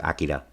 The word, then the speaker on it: Akira: director of um Akira or as I see it in the film they pronounce it Akida um but I'll probably say Akira for the rest of the